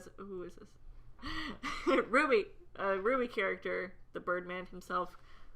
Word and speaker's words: RWBY: Ruby. RW. BY. Is that how you say it? It's Ruby, yeah. Yeah. That's how you say it? I've always Yeah. said the letters.